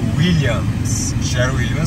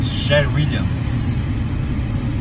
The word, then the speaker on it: Sherwin-Williams: ali na a série William sheridan tem Brasil hein esse lá pronúncia correta sherwin-williams bem pertinho aqui escritório